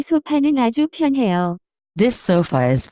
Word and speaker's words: 소파: Many new Korean words are simply English words with the Korean pronunciation pronouncing. 소파. In Korean will sound like sofa. Note that there is no way to pronounce the F sound in Korean.